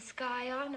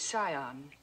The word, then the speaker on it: scion: a yacht and the sky on of a prominent family the word is Scion the sea is silent yes well he looked